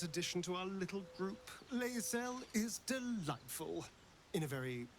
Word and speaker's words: Lae'zel: Lae'zel is delightful. In a very look at me twice and I'll dismember you kind of way, of course. Lae'zel. Okay, so that is her pronunciation.